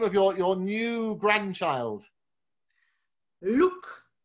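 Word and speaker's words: Loek: Luke.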